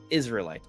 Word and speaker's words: Israelite: of the Kingdom also my name is said like Israelite okay Israel right there got